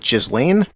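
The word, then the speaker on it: Ghislaine: that's how do you say your name is just lane just lane maxwell jesse just just so this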